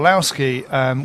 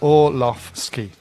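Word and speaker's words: Orłowski: And with regards to Michael Olowski, we've had some pronunciation instructions from Poland. Is it Orlowski? And that is, or? Yeah, Michał Orlowski.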